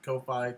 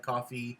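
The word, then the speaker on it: Ko-fi: visit our coffee site kofi coffee i pronounce it both ways i i i can't be bothered to learn how to pronounce somebody else's trademark um but you can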